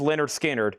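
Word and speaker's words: Lynyrd Skynyrd: Leonard Skard, pronounced Leonard Skard, $36.99.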